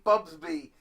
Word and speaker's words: Bubsy: for both me yeah you keep saying it wrong but I can't say bubs be wrong again it's bubs B see I keep saying bubs you say bubs B and then you say Busby I know you guys